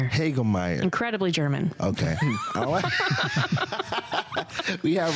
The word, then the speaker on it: Hagemeier: how do you say your last name heger heger incredibly German okay we have heger in